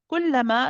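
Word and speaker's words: كلما: Kullama, again, just be careful that you're pronouncing this ka from the right place. It's very easy to pronounce it as a kullama, kul, ku, ku, ku. You want to make sure you're in front of the makhraj of the qaf. It's on the hard and soft palate.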